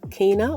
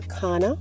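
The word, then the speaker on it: Canna: Next we come to Cana or Kana, as some people prefer to pronounce it.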